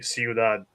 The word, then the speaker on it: Ciudad: Oh wait, it's Spanish, so it'd be Ciudad.